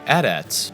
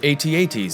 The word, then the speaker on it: AT-AT: by mat paintings 38 the adats or allterrain armored transports or imperial Walkers or at-ats if you believe in pronouncing things incorrectly were inspired by the